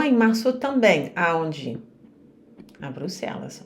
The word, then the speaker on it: Bruxelles: bruxelles bruxelles oou bruxelles então o som é Bruxel ou som é Bruxel mas o que não